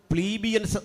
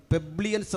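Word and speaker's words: plebeians: പൗരന്മാരാണ് പെട്രീഷന്മാർ എന്നവർ വിളിക്കും രണ്ടാമത്തെ ആളുകൾ പ്ലീബിയൻസ് എന്നറിയപ്പെടും പെബ്ലിയൻസ് എന്നും ചില ഉച്ചാരണങ്ങളിൽ കാണുന്നു മൂന്നാമതൊരു കൂട്ടരുണ്ട് ക്ലെയിൻസ് എന്നാണ് പറയുക ഇനി ഒരു കൂട്ടരുണ്ട് ഡൂലോസ് എന്നാണ് പറയുക ഇനി ഒരു കൂട്ടരുണ്ട് എക്ഡുലോസ് എന്നാണ് പറയുക.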